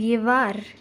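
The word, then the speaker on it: llevar: First, double L is always pronounced as Y or J. For example, yave and yevar.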